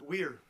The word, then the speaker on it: Weir: Is it pronounced where or were? it's weird. Weir. Yes.